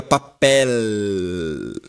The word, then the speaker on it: papel: Só que a gente fala errado, né? Porque a letra que está ali por último é o L, não é o U. Então seria papel nesse caso, tá bom?